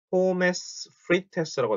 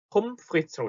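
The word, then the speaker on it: Pommes frites: 포메스 프리테스라고 되어 있네요. 포메스 프리테스. 자, 이걸 정확하게 읽으면 폼프리츠라고 씁니다. 폼프리츠. 포메스라고 써있는데 뒤에 발음 전혀 안 나고 폼프리츠. ES라고 써있죠? ES도 그냥 S. 폼프리츠 이렇게 발음이 됩니다.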